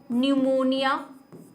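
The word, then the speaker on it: pneumonia: Full form है, pleuro न्यूमोनिया like organism, ठीक है। ये इसकी स्पेलिंग न्यूमोनिया है, लेकिन इस इंग्लिश में ये स्पेलिंग है, ठीक है, क्योंकि ये पी साइलेंट रहता है इसलिए PPLO, PPLO,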